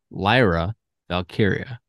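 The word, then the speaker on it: Lyra Valkyria: is tremendous I also want to apologize for mispronouncing lra Lyra vy's name uh for pretty much my entire life Lyra valkiria she's the NXT Women's Champion and she's uh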